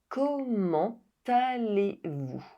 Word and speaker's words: Comment allez-vous: With the exception of this question in which the liaison is required. Comment allez-vous?